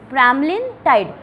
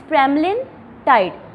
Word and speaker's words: pramlintide: प्रेमलिनटाइड bracket में देखोगे ना आपके लिपिनकॉर्ड के अंदर, ब्रैकेट के अंदर कैसे प्रोनाउंस करना आपने ड्रग को वो मेंशन है, प्रोनाउंसिएशन मेंशन है, दैट इज़ प्रेमलिनटाइड।